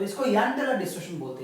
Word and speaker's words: Jahn-Teller: इसका प्रोनाउंसिएशन ऐसा ही है, इसका स्पेलिंग JH है, लेकिन इसको यंग टेलर, कोई कोई जॉन टेलर भी बोलता है, तो इसको यंग टेलर या फिर जॉन टेलर डिस्टॉर्शन बोल सकते हो।